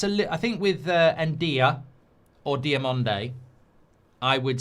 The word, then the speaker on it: Ndiaye: Ndiaye is how you pronounce his name. Ndiaye Ndiaye Um So, look, I think I think I'd